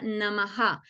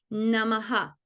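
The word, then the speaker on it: नमः: n pero se pronuncia namaha Porque esa H tiene un punto por lo tanto tengo que mirar la vocal que está antes namaha y en este caso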